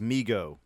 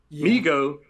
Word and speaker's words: Mego: comments right now i i think it's pronounced migo migo there you go that's